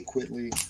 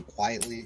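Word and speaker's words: Quitely: Morrison Frank quitly run I say quitly some people say quietly I think he's one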